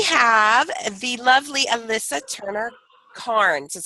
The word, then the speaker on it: Cairns: alone today we have the lovely Alyssa Turner Karnes is how you say right I went on